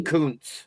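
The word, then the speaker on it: Kuntz: Uh, Rusty Rusty Coun. Rusty Coun. And if you say it the way it's spelled, it's not good to say on the air.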